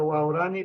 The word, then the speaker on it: Waorani: plural Cómo se escribe no se pronuncia waorani pero se escribe guani ya y aquí está